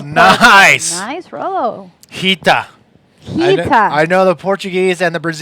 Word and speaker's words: Rita: She's Rita Peters. Oh, from Portugal. nice. Nice roll. Hita.